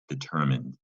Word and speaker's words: determine: You can see mine with that silent E, it looks like mine, but we actually ignore that rule. Determine, it's a short I sound. I like to say short I.